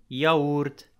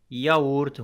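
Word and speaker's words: yaourt: إذا جاءت في بداية الكلمة مثلا كلمة زبادي، ياورت، ياورت، هنا تنطق كحرف الياء، لكن بطبيعة الحال إذا جاءت في الوسط في هناك حالات تنطق ككسرة، تستعمل عفوا ككسرة.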